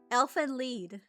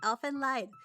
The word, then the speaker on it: Elfen Lied: Part of me is like, Elfen Lied. But no, it was Elfen Lied. Elfen Rido. Okay, so it's lead.